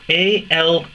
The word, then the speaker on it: Alaunt: It's spelt A-L-A-U-N-T, Alaunt.